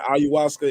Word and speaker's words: ayahuasca: You get caught with a pound of, how you say, ayahuasca in the car.